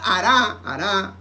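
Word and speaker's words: הָרַע: La palabra hará, H-A-R-A, la palabra hará significa maligno.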